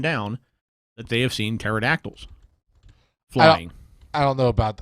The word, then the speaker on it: pterodactyl: How do you look up I can't even spell pterodactyl. It starts with a P. Pterodactyl. Pterodactyl. Pterodactyl. Pterodactyl. Just use spell check, man. Does that work? Pterodactyl. Pterodactyl. The patera is silent.